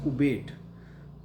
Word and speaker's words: abate: The spelling is a b a t e but the pronunciation is ubate.